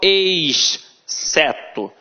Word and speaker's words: exceto: Observa que eu não falo exceto, eu falo exceto.